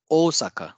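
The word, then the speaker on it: 大阪: will be pronounced as Osaka so there will be a stress in the o sound at the beginning o Saka origami origami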